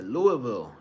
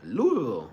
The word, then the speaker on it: Louisville: I think she just got to Louisville. Louisville. You got to say it like that. Louisville, not Louisville.